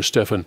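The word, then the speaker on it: Stephon: a 22 year old Stephen pronounced Stephen or Stefan Stefan Clark around 3:00 p.m.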